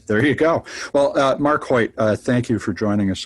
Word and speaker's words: Choyt: So the C is silent, and you are mistyping it if you begin his last name with an H.